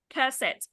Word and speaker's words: cassette: So we have this one, cassette. So it's stressed on the second one.